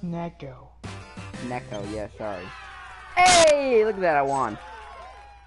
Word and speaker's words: neko: You love Nico girls? It's pronounced Neko.